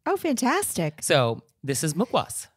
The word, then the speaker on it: mukhwas: a restaurant thing oh fantastic so this is mukwoz mukwoas can you spell mukwoz for us well it's hindi but it is spelled on this little packet a m-u-k-h-w-a-s okay